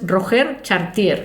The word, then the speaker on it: Roger Chartier: Es Roger Chartier, escrito así, hablado así como para los de Burgos.